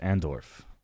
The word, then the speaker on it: Andorf: do also what's your name my name is andorff and Dorff can you spell it for me a-n-d-o-r-f andorth I originally hail